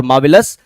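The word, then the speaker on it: marvellous: noun verb है और मावलस आपका एडजेक्टिव हो जाता है मावलस आर यहां पे साइलेंट होगा नेक्स्ट वर्ड क्या है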